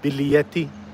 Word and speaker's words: biglietti: Well, I've learned biglietti, which is pronounced biglietti, but it's spelled biglietti, I think.